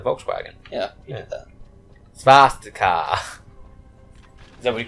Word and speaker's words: swastika: It's actually pronounced Svastika.